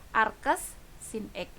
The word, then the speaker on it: arcsin x: Arcus sin X. Ini dibacanya, sekali lagi saya tekankan, ini bacanya arcus sin X. Bukan sin pangkat min 1 ya, tapi ini dibacanya adalah arcus sin X.